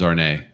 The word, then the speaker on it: Arne: Arnie said her name is Arne. Ray, my name rhymes with yours.